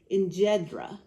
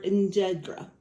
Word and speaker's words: Enjedra: make today is called Enjedra. Some people pronounce it Mujadara or Enjedra. It is spelled a couple different ways depending on the dialect and where you come from.